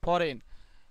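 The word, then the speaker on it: foreign: কি হবে ফরেন হবে, জির উচ্চারণ হবে না, ফরেন, ফরেন মানে বিদেশি, ঠিক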